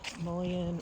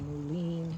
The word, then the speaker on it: mullein: There's the mullein or mullein, depending on who you are and how you pronounce it.